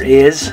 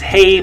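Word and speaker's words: hay: Okay, we'll talk more about this later, but the letter H, just so you know for this one, the letter H is always silent in Spanish.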